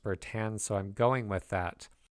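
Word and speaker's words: Bertin: t i n but I've typically heard it pronounced bertan so I'm going with that all of these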